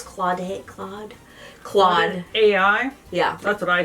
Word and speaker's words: Claude: Like, what should you do if you haven't really tried any of the, Claude, how do you pronounce Claude? Claude.